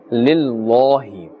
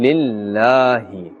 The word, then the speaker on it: لله: with a flatter sound we are not saying lillahi this is incorrect actually we are seeing Lily a flat sound al-hamdu lillahi rabbil alameen